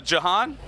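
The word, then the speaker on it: Jahan: known as kruella hello ladies hello now uh Johan yes you pronounced my name correctly I well I've heard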